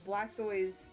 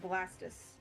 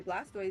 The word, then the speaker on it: Blastoise: But then again, if you were to say like Blastoise with that in mind, you'd be pronouncing it Blastus. Which no one does. I think it's... No one pronounces it Blastus.